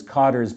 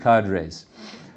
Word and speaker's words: cadres: development of durable cadres I heard it pronounced as codr by some of you something like that I pronounced it cadres uh by this term Cadre or however you want to pronounce it I am referring to